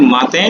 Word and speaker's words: matin: सबसे पहले आता है माते। माते मीन्स मॉर्निंग, MATIN, माते, प्रोनाउंसिएशन इज माते एंड इट इज मॉर्निंग।